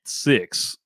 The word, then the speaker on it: Sicks: group called The Wyatt 6 and this is spelled six like s i c k the number six on there um I